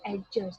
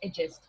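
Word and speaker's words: adjust: डी is silent over है, जिसमें हम बोलते हैं हमारे, हम कहते हैं ना एडजस्ट, this is नॉट एडजस्ट, this is एडजस्ट, ठीक है।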